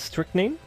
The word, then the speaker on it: strychnine: Google pronounces it as strychnine.